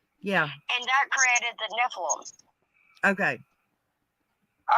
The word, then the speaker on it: Nephilim: okay it's cristola guys it's pronounced nephilim in that what i said no you said nephelium close enough his nephilim is where